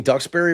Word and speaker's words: Duxbury: Am I pronouncing Duxbury right? Is that right? They said ducks.